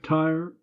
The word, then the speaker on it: Tyre: Tyre, you notice, 2 syllables to rhyme with deny her in line 3.